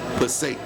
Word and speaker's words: Passaic: Passaic, New Jersey.